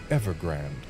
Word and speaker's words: Ever Grande: most remote in Hoen, Ever Grand or Ever Grande, depending on how you want to pronounce it. But I always go Ever Grand.